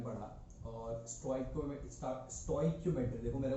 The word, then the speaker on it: stoichiometry: कुछ लोग इसको स्टोइक्योमेट्री बोलते हैं, कुछ लोग इसको स्टीक्योमेट्री बोलते हैं। ठीक है, जो करेक्ट प्रोनाउंसिएशन है वो स्टोइक्योमेट्री है।